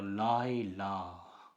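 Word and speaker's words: לילה: சாதாரணமாக இந்த ஹே இறுதியில் வந்தால் உச்சரிக்கப்படாது. சைலண்ட் லெட்டர் என்று சொல்கிறோம். அதுபோல் இப்போ லாய் லா.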